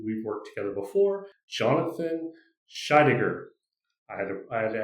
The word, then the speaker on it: Scheidegger: And today we are joined by a good friend of mine who we've worked together before, Jonathan Shaidiger. I had I had to ask him how to pronounce his last name, so I said it correctly.